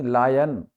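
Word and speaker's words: lion: रहा बाद में आहा हम बोलते लोइन लो लायन शेर का जो शब्द है वह है एल आई ओ N spelling यह है उसका जो एक्सेंट उच्चारण व लायन लन नहीं लन का धोतिया कमर य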